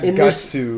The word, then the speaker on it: Guts: Yeah, Guts has tons of different pronunciations for his name. In this game, Gutsu.